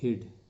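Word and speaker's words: hid: शब्द को आप देख रहे हैं, तो इसका उच्चारण है हिड.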